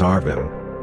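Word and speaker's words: ערבים: were people, Arabs, since the words crow and Arabic are written in the same way in Hebrew, but have different pronunciation. Ravens Orvim and Arabs Arvim.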